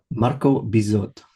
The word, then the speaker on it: Marco Bizot: Marco Bizot. If you want to say it 3 times, make sure you pronounce the T by the time you get to the end.